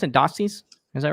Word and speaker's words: Dossey: cartoon postcards well fantastic is that how i pronounce it doxy's is that right okay awesome what's up tommy